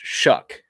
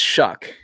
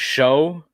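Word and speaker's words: Shough: name is s-h-o-u-g-h but it's pronounced shuck like you shuck corn it's pronounced shuck i always i thought it was show cause it's s-h-o-u-g-h but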